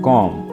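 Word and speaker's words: comb: में कॉम कहते हैं कॉम यहां पर आपने बी को प्रोनाउंस नहीं करना है बी को साइलेंट रखना है कॉम पर्दों को इंग्लिश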